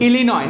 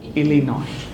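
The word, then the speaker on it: Illinois: in America called इलिन what is it called इलिनॉइस नॉट इलिनॉइस इट इज इनोई oil then there is one place called आर्कंस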